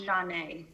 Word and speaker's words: Janae: i get it right oh it's pronounced janae janae okay thank you so